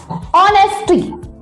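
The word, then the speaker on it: honesty: जैसे ऑनेस्टी, यहाँ पे एच साइलेंट है।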